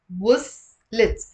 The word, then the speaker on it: وصلت: The stress is on w. وصلت.